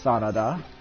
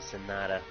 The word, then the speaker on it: Sanada: Arata Sanada. It's actually Sonata.